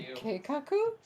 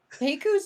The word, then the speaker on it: keikaku: Keiku's not how it's said. Oh, well, I don't know. I just read things, man. But not well. There's an extra K in there.